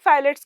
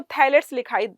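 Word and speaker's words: phthalates: अब हम बात करते हैं फाइलेट्स के बारे में। कहीं आप अगर पढ़ेंगे तो आपको थाइलेट्स दिखाई देगा। ठीक है, तो अलग अलग इसका प्रोनाउंसिएशन है। आप फाइलेट्स या थाइलेट्स जो भी पढ़ना चाहते हो।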